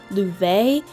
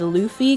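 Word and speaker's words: Laufey: Sabrina Carpenter, Paramore, Louve. I almost said it wrong and said Luffy cuz that's what I've been saying out loud for the longest time, but apparently that's wrong, so I'm going to get cancelled for that one.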